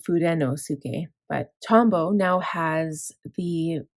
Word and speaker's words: Fudenosuke: probably saying it wrong I know other people say food food or something but I like to pronounce the N I don't know why food food yeah people say or furosuke instead of fudenosuke but tombow now has